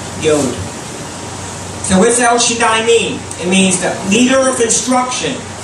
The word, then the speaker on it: Shaddai: Shaddai, it's actually in the Hebrew, it's pronounced Shaddahi. Shaddahi.